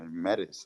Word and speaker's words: Metis: I don't know how to pronounce it. Maybe Metis, and now Celo. So yeah. Go ahead, host. No, yeah, I was gonna say yes, sir. Metis, like you pronounce it like right, Okay.